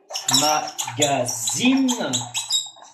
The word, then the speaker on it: magazine: Primero se escribe diferente, pero obviamente la S y la Z tienen el mismo sonido aquí, ¿eh? Magasin, como sonido Z, magazine. Entonces no es aquí que hacemos la diferencia, excepto el escrito.